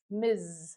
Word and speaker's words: Ms.: Miz. Do you hear the pronunciation? This is also a typical student mistake. The pronunciation sounds like a Z like a Z, not Miss Miz.